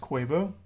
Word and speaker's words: Quavo: his own business basically it's pronounced quavo have I been saying it wrong all these years oh